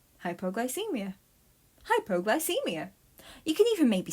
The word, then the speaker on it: hypoglycemia: for the word hypoglycemia to pronounce it say hype o gly see Mia okay here's an activity